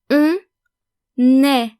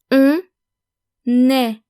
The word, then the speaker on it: on est: On est. On est. One is. Notice that we are pronouncing the N of on est, because est starts with a vowel. So basically, we're making the liaison.